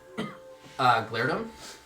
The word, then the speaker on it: Glairdum: Glairdum. Go G. So glare, Glare. D-U-M. Glairdum.